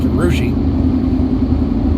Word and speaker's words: Russia: in urushi ohio and it's spelled just like russia but pronounced arushi uh anyway they uh